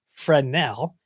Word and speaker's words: Fresnel: The Fresnel zones, and so it's actually spelled Fresnel, Fresnel, pronounced Fresnel.